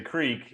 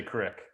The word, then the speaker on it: creek: least there's there's people like al and i who say creek and then there's also people who say crick correct there's just no